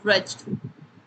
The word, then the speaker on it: wretched: wretched wretched it is wretched though it is there is w in the front but w is silent so we'll be calling it as reged so the the fifth